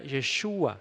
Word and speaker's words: Yeshua: Lo más acercado en el idioma original sería Yeshua, lo más acercado. No podemos decir que así es, porque tal vez se pronunciaba un tanto distinto.